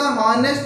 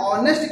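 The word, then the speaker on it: honest: अब देखिए यहाँ पर हॉनेस्ट में हम हमेशा हॉनेस्ट नहीं पढ़ते हैं, इसे हम ऑनेस्ट कहते हैं, इसीलिए आप यहाँ पर एन का प्रयोग करेंगे क्योंकि यहाँ पर एच आपका साइलेंट होता है।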